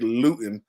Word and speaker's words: Luton: believe that we see Jake Lutton or Luton I finally realized I was saying this name wrong so Jake lewton will see him showcase